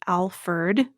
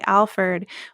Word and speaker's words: Alferd: Packer's name, even though he's generally known as Alferd, like with the E-R-D.